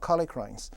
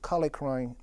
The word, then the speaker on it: kallikrein: I believe kallikrein or kallikrein, depending on which side of the water you're coming from. If you, I guess, come from Europe, it's pronounced more so as kallikrein, but here in the States, at least our lab like to call it kallikreins.